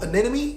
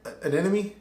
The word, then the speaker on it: anemone: Outside of that, Marincess Coral Anemone, did I say that right? Anemone? Anemone? I said it right.